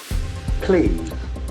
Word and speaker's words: plea: contempt of court contempt plea p e e has got a long e sound play play an urgent and